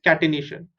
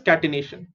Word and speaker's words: catenation: Okay, so this property of carbon is called as catenation. How do you pronounce this? C is cat, T is T, catenation. So T is T, cat, T, N is ne, T-I-O-N is shun.